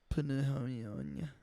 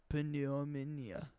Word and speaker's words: pneumonia: Pneumonia. I was saying pneumonia phonetically if you pronounce every letter. Penomomania.